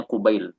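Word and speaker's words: قبيل: Nah, ini cara bacanya kubail. Kubail ini tasghir dari qabl.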